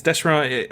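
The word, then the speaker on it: DeSharone: 101 had a really excellent interview with Dale Descharoun. I hope I'm saying his name right. I think that's right. Yeah. Mm-hmm. Yeah, it's Descharoun. Apparently, it used to be pronounced Descharoun or something.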